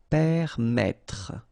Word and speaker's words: permettre: pronounce it like okay, so permettre, final not really pronounced.